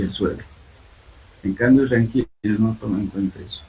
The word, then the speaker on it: Rankine: Por favor, en alguna parte en esta parte está hablando de ranking, ¿no? El verdadero nombre es Rankine, por favor. Ponerlo aquí así como se escribe, esa es la palabra correcta, Rankine.